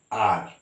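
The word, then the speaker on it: hour: with a consonant but here h is silent we pronounce it as r alright so we say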